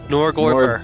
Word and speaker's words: Norgorber: Norgorber. Am I saying it right? Close enough. Norgorber.